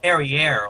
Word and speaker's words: Perrier: It's I said Perrier, like, Oh, well, I said it. I pronounced it this French way.